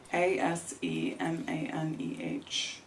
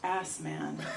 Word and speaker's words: Asemaneh: Asemaneh. Unfortunately, in English, that's pronounced ass man.